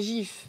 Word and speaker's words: GIF: dis rien donc déjà d'un point de vue purement français parce qu'ici on aime bien la France la prononciation ce serait gif il y a pas de U entre le le G le i donc techniquement c'est gif du coup bah non